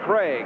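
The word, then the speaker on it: Krieg: there is Young Dave Craig k r i e g but pronounced Craig and he'll be coming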